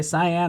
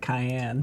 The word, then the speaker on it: cyan: Cyan, I always want to pronounce it cayenne.